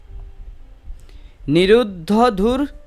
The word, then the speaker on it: নিরুদ্ধ: মন্ডলী নিরুদ্ধ ধুর দরস্পুর তর নিচে হসন্ত যুক্ত হন্ডতের মত উচ্চারণ হবে নিরুদ্ধ দরস্পুর নবীন মেঘ মন্ডলী নিরুদ্ধ